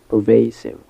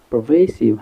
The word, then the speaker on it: pervasive: so we have pervasive pervasive and the stress is on the second syllable they pervasive this word